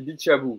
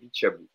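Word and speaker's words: Bitshiabu: Il y a Tyson B13 qui me dit Hugo, on dit Bichabou. C'est vrai, voilà, on en a parlé sur Twitter en plus. Excusez-moi, j'ai dit Bichabou, c'est bien El Shaddai Bichabou pour la prononciation.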